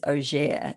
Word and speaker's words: Auger: Number one, my mother's maiden name is Auger. It's actually French, but it's spelt auger. So that's like, if you were to see it, that's how you'd pronounce it.